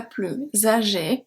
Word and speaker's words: plus âgée: Elle est la plus âgée. Plus âgée, here I pronounce it because there's a liaison, because the adjective starts with a voyelle.